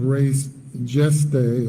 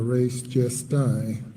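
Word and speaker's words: res gestae: under the theory of res geste or res gesti, as some might pronounce it.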